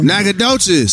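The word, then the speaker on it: Nacogdoches: I can't pronounce it. Please welcome downtown Emily Brown. Hey y'all. Nagadocious.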